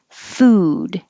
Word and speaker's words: food: means twice a year food has just the ooh sound food but foot has the uh like took so don't round your lips and keep your jaw